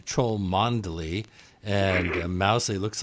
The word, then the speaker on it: Mousehole: Chumlee looks like it's troll Mon Delhi and mousey looks like a Mousehole there's also Fanshawe which